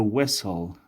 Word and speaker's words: whistle: blow دوستایی blue تلفظ نکنین blow the whistle on someone blow the whistle blow the whistle زمانی که whistle میگین اینی تیش در وسط سایلنت میشه blow the whistle on